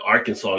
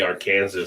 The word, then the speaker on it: Arkansas: It's like when people go to Arkansas, they say Arkansas. So it's like, oh, you're not from here, huh? do they really? If you were learning English, it's spelled just like Kansas. So why wouldn't you say Arkansas?